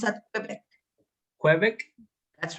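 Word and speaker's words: Québec: Quebec. That's right. While on holiday. It's a French. It's a French word. So for that reason, it's pronounced Quebec.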